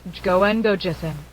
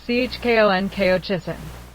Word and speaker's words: 十五円五十銭: If that man in the happy coat had been Korean, and had pronounced Jugo gojussen as Chkon Kojussen, he would have been dragged away on the spot.